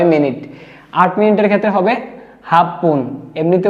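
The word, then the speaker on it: 八分: রুপন মানে ছয় মিনিট আট মিনিটের ক্ষেত্রে হবে হাফপন এমনিতে উচ্চারণটা ছিল হাচিপুন কিন্তু হাচিপুন না হয়ে হবে কি হাফ যুক্ত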